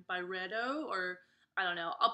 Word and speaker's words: Byredo: They did a fragrance with burrito. I think that's how you say it. It sounds, I don't mean burrito like Mexican food. I think it's Byredo, or I don't know.